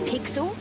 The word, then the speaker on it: Pixel: is not weird guy i'm pixel it's easy to remember because it rhymes with pickle so it does i'm